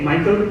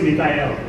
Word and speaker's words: Mikhail: and i said hey michael can we talk like yeah sure by the way it's mikhail are you reading